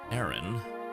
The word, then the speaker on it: Aaron: I know it's Aaron, but it's funnier to say A-A-Ron.